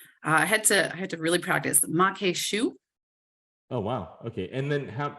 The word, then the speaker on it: maque choux: So how do you pronounce that again? I had to really practice maque choux.